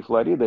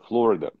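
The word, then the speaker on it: Florida: Да, потому что это не Флорида, это Флорида.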